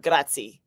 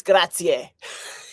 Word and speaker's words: grazie: You have to pronounce the end.